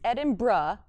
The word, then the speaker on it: Edinburgh: I've been saying it wrong. It's Edinburgh, is how everyone in Edinburgh says it.